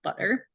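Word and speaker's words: Budr: a new phase when butter spelled b-u-d-r pronounced butter cannabis opens a store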